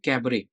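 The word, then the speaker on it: cabaret: तो अगला वर्ड देखते हैं कैबरे। अच्छा, इसमें टी रहेगा silent, this you have to remember. क्या है? टी जो है साइलेंट रखना है।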